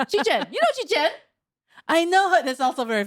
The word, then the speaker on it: Chichen: it, but it's spelled Chichen. How would you say that? Chichen. Chichen. Chichen. It's like Chichen. Chichen. Chichen. Yeah. It's like two Chinese names put together. Chi and Chen. Chichen. You know Chichen?